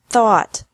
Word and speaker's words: thought: teach taut taut think thought thought remember that the G is silent in these verbs verbs with three different